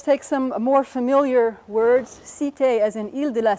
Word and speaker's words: Cité: Cité, as in Île de la Cité, means something like city, which it's related to.